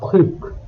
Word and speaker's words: truc: If a French word begins with C, R, F or L, which are consonants from the word careful, the final letter is usually pronounced. Otherwise, the final letter is silent.